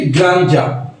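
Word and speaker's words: grandeur: has lost it's গ্রাঞ্জা এটার উচ্চারণটি গ্রাঞ্জা যে বিল্ডিংটি তার জাগজমকপূর্ণ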